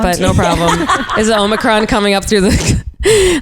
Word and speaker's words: Omicron: Yeah, Omicron, yeah.